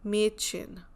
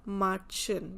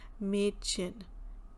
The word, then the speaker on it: Mädchen: So if it is not the umlaut, then we'll pronounce it as Marchen, because A is A. But here we have umlaut, so that's why we are saying Mädchen, Äpfel.